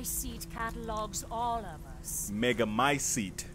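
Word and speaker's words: Megamycete: catalogs all of us mega my seat is how you pronounce it however she will be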